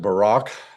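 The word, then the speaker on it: Barak: about Gideon and Bay or as we now pronounce it Barack and Samson and Jeffa also of David and Samuel and the prophets.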